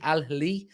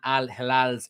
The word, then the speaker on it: Al Hilal: Saudi side Al Hilal, I think that's how you pronounce it, Al Hilal, extended an attractive offer, but Amrabat's affinity for